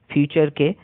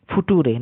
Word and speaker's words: future: এটাও একটি ভিডিওতে দেখেছিলাম, ইউটিউবে বেশ ভাইরাল হয়েছিল, যেখানে একজন টিচার পড়াচ্ছিলেন নেচার, NATURE নেচারকে নাটুরে, আর FUTURE ফিউচারকে ফুটুরে, নাটুরে ফুটুরে, এরকম উচ্চারণ করছিল।